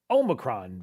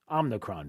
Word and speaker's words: Omicron: uh to the nation about the emergence of the omicron variant was mispronouncing it as the omnicron variant but that's okay it